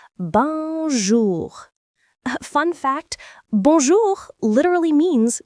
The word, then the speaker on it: bonjour: You'll hear bonjour, pronounced bonjour.